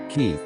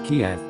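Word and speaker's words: Kyiv: that border is ukraine's capital ki which most people used to refer to as kiev the russian pronunciation but after this conflict began many people in the west began to use the ukrainian pronunciation anyway belarus is a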